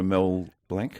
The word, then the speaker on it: Blanc: and got to know Mel Blanc? Yes, and well pronounced. Because I run into people now who try to say Mel Blanc as if he's a French waiter. Like a Mont Blanc.